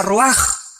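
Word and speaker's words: רוח: Se pronuncia roaj. Por ejemplo, cuando hablamos del Espíritu Santo, el Espíritu Santo es roaj, el cabosh, el Espíritu Santo.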